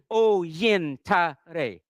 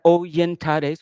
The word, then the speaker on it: Oyintare: Yin, like yin. Oyintare.